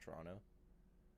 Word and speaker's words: Toronto: yeah, but most people like you would say Toronto, but you like if you're Canadian, you don't pronounce the last T. It's just Toronto.